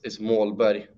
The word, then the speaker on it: Målberg: Correct way for my last name is Målberg, which means goal mountain.